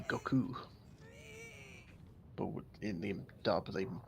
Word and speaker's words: Goku: Kai as well, but they actually pronounced it the Japanese way. Please. Because you're supposed to put more emphasis on the ku than the go. So technically it would be Goku.